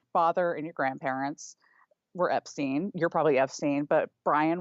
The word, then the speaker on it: Epstein: But so Henry Epstein, nephew of Brian, says Brian pronounced it Epstein.